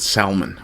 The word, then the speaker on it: Salmon: Sal, sorry, I'll pronounce it Salman.